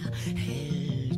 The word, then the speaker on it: hält: is important here is the pronunciation of this word because of the umlaut. It changes, huh? So the letter A in this case is not pronounced like A, but E. Wer hält deine Hand? This one, okay, the pronunciation is A. This one is not A, it's E. E.